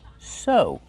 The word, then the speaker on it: sew: Use the long O sound like know and go. Sew.